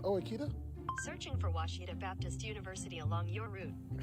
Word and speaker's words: Ouachita: Wichita. Achita. Ouachita. Is it pronounced Ouachita? Searching for Ouachita Baptist University along your route. Some folks think the O is a Q and they say Quashita.